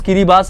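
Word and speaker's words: Kiribati: है किरी बास यस इसका प्रोनाउंस किरी बास है किरी बास एक कंट्री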